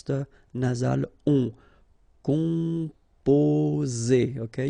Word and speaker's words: composer: Composer. Okay, you pronounce it Z here because you've got two vowels and only one S.